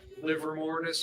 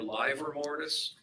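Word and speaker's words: livor mortis: the time frame yeah liver mortis or live or mortise live or mortis that's spelled l-i-v-o-r mortis is the term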